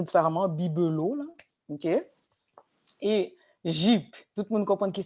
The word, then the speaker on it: Jeep: Si je dis Jeep, généralement, les Haïtiens, pour Jeep, dans ce cas-là, ils vont prononcer plus un D-J-I-P.